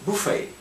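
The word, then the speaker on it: buffet: Буфей. Во французском ударение в конце, поэтому вот такое произошло.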